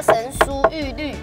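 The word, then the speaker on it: 神荼郁垒: 我知道，神茶玉垒，有玉垒。小时候老师小学是教神书玉律啊。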